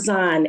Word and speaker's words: Az'an: name so pron is is it Aon it's aan a z a n I love the way